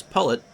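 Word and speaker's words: Pollet: We learned to pronounce that Howie's last name is Pullet.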